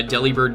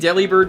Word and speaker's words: Delibird: they made the collection do you think Deli bird was meant to be pronounced like delivered yes I think so